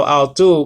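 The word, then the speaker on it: αὐτοῦ: what i'm saying so i'll do means of him alpha of salon with a uh uh swap breathing so it's not how it's ow okay uh tau omicron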